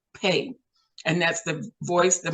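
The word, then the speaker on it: פ: And by the way, 5780 on God's calendar means pay, P-E-Y, and some people spell it, some spellings is P-E-H, pay.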